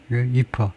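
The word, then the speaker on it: IEEPA: 그 바라은 이파 이파의 우전함으로써이 이퍼라고 이퍼 발음이 이퍼죠.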